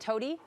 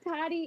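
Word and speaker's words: Tody: Tell me about, is it Toady? Toddy. I think I'm saying it right. Yeah, Toddy.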